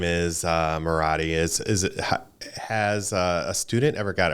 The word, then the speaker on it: Moratti: Moratti rhymes with karate.